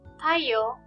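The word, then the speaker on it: たいよう: Notice that Y-O-U, yo, is pronounced like yo, not yo-u. When the O sound is next to the U sound, it is pronounced like O, the long O sound, yo.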